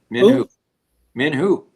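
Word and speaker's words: Min Huh: I'm pronouncing that right. Min Hu.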